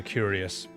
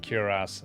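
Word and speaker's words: cuirass: I've always been calling it a curious. And it makes sense. That's exactly how it's spelled. Curass.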